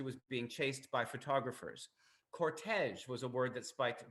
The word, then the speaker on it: cortege: Now, cortege is interesting in English because it's actually a French word, as you might notice. It's one of those modern French words that is pronounced in the French manner in English, like the word garage.